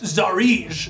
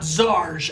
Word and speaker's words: Tsaries: yes where are they she told me that it's pronounced zarige not zarge as I have been mistaken that's what I've been